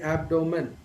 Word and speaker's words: abdomen: tends to pronounce so the right pronunciation of this word the stress is given to the first syllable so typically the right pronunciation would be abdomen but most of the